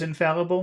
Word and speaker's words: infallible: That's four syllables. Are they big syllables? In Syllables. Infallible. so in fall, fall fall is big Okay. than other. Big. Foul is big.